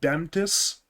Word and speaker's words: BMTS: I was told by Twitch chat last time that BMTS is pronounced Bemtis, and That I'm this not is sure if they're right. some meme stuff. Oh, it's Nah, a meme. it's. I mean, you can say that. You know That's what? like It's easier to say Bemtis. It's 2 syllables versus BMTS. it's an It's four acronym.